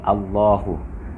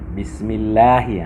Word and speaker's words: Allah: Ada waktu kita membacanya dengan tipis apabila huruf sebelum lafaz Allah berbaris bawah. Misalnya Bismillah, tipis. Bismillahirrahmanirrahim. Bismillah. Tapi kalau kita sebutkan Muhammadur Rasulullah, tebal. Rasulullah, kenapa berbaris atas?